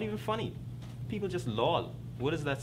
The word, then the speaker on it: LOL: so you don't pronounce you don't really say the word you spell it like LOL would be the more